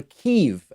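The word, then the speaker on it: Kyiv: Wednesday he went to Kiev or Kiev as we are now told is the Ukrainian pronunciation went to keep Ukraine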